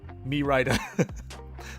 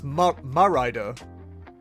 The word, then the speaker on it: Mérida: The E to me is pronounced as an A, but It's what? It'd be Spanish, wouldn't it, rather than like French? Mérida.